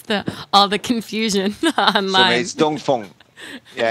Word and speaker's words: Dongfeng: why you say in in China we say d Fong but and when you read it in the English it's D Fang I think that's hence the all the confusion online D Fong yeah it's D no